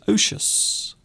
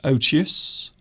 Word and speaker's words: odious: or emotion Oh teos some people pronounce it osius you can pronounce it as odious or oto s' something that